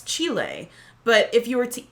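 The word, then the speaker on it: Chile: and speaking of Spanish I used to pronounce this chillie and i think most people in britain do but I've since evolved my pronunciation because of this one well it's chilly because it's the place chilly but if you were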